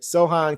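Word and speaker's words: Sochan: Everybody saying it's so hand or so. I'm gonna go with Sohan. Said pronounce the pretend the C isn't there. C is silent with Sohan.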